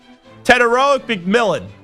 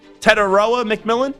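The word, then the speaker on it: Tetairoa McMillan: Tedoic McMillan. Did I add an extra syllable there? Tedoa McMillan.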